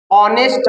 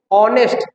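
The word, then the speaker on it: honest: गया है ही इज ऑनेस्ट मैन इसको आप उच्चारण जो पढ़ते हैं ऑनेस्ट नहीं पढ़ा जाता है दैट इज रंग इसको पढ़ते हैं सही ऑनेस्ट देखिए ही इज ऑनेस्ट मैन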